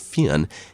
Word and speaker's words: Fionn: called Finn mul but I've been assured Fen is is approximating the correct Irish pronunciation anyway it's a name